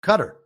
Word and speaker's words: Qatar: Second, Qatar in Arabic is pronounced cutter with emphasis on the T.